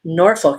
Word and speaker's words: Norfolk: They said Norfolk, Virginia. You pronounce it Norfolk. You're supposed to swear when you say Norfolk. Norfolk. You're supposed to cuss a little.